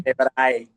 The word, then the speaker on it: Tenebrae: So how do we pronounce the name of the band? Is it Tenebrae? Tenebrae.